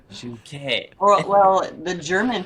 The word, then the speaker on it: Juhnke: Not junkie. Yeah, Juhnke. Yeah, it's Juhnke. Juhnke. you got it. Juhnke. The H is silent. Juhnke.